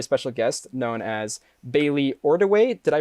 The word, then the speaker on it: Ordiway: by a very special guest known as bailey ordaway did i pronounce that correctly you did one of the